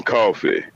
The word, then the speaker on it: Coffey: what's your name coffey like to drink only not spelled the same okay oh i mean